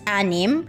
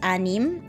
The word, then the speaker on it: anim: it okay six is anime do not confuse this with amin which is like in our previous lesson before this is anim anim which is six yeah seven is pito